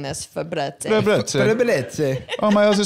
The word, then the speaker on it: Febreze: Febreze doesn't have the double E. But it's still pronounced Febreze.